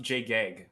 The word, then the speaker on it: Jreg: Well, it's pronounced Jgeg, actually.